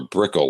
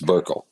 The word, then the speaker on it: Burkle: I keep wanting to say Bickle or Brickle, like butter brickle ice cream or something, but it's Burkle.